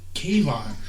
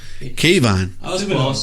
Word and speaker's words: Kayvon: uh oregon where did he keep what's that kevon kayvon you can't you go to